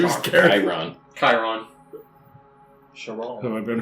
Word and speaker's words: Chiron: Chiron. Chiron. Sharon. Have I been pronouncing it wrong the whole time? Yeah, It's Karen.